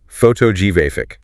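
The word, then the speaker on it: photographic: And the adjective. Photogyraphic. Moves again. Photogyraphic.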